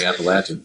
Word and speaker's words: Appalachian: necessarily IP related but I say it app but what's the right way to say that oh it's definitely appalachin so okay Appalachia that's